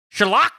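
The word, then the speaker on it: Schalke: be forced to sell lec spot chalk okay shulker my bad choco four could be forced to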